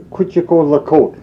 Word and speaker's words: Quetico: The proper pronunciation for Quetico is Quitico-Lacote, means beyond the horizon.